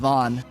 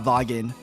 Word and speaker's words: Vaughan: No, it's it's actually just pronounced Van." Like the G and the H are silent. It's it's just it's actually van. It's not vogen.